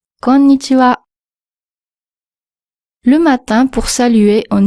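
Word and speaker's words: こんにちは: Alors fais attention de ne pas dire conitiwa mais conitiwa. Conitiwa.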